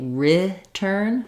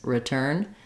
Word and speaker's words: return: in this space like I don't have to say return it could be return R kind of somewhere in this space return um it's not turn but it's also not return it's a reduce file return so there is